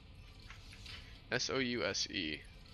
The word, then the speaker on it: souse: not sure if I know what that is s-o-u-s-e Saucy Susie that's actually that I pronounced it right styles well I'm Googling s-o-u-s-e